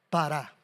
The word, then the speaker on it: pará: La palabra fructificar en el hebreo, esa palabra es pará. Con con acento en la segunda. Para.